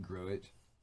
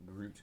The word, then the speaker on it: Gruit: As like you're supposed to pronounce it Gruit, not Groot, like the tiny tree.